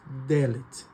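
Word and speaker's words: דלת: A letra dallet ela também representa a porta que em hebraico nós pronunciamos delet.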